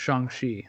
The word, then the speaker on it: Shang-Chi: Yeah, it would probably be Shang-Chi, so maybe, or Shang-Chi as is how it's spelled, but apparently it's pronounced Shang-Chi.